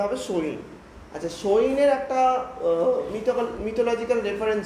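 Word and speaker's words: Samhain: এস এ এম এইচ এ আই এন এটার উচ্চারণটা হবে সইন।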